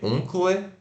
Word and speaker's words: uncle: U-N-C-L-E, uncle, né? Mas se pronuncia, ó, sílaba tônica. O V de ponta cabeça, que é o O relaxado. Uncle, uncle. uncle, Beleza.